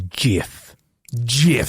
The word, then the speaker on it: GIF: pronounce the word as GIF GIF so like it's it's a soft G like you would say I'm going to the gym see that's a g